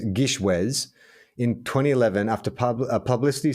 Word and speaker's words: GISHWHES: a it's a an abbreviation of the of g-i-s-h-w-h-e-s which is the greatest international scavenger hunt in the world has ever seen pronounced gishwhes now shortened to just gish is an annual week-long competitive media scavenger hunt